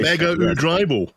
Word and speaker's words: Mega: is called in Japan that's the correct Japanese pronunciation Mega that's what I'll call it from now on mega mega right there you